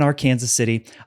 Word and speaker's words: Arkansas City: And yes, that is the correct pronunciation of Arkansas. He grew up in Arkansas City.